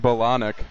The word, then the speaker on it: Bolniak: I believe it's pronounced Bolonic.